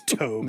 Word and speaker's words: Tobe: life it's to it's Tobe it's pronounced Tobe is it really I don't know it' be awesome if it was Tobe I can see it being Tobe what do you mean